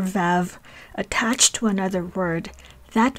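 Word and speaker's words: ו: that means and and it can be pronounced in four ways ve is the general pronunciation of the conjunctive valve unless the criteria below are present oo is the pronunciation when it is attached to a labial consonant such as so these are consonants that are pronounced by pressing the lips together and we'll see more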